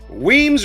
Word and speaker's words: Weems: Weems rhymes with reams, and that's what he's doing for Trump's butthole.